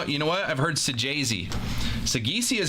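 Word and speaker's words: Saggese: I pronounced it Sagisi because I know people who have that last name and pronounce it Sagisi. But the Cardinals fan said it's Sajazi. So, go figure.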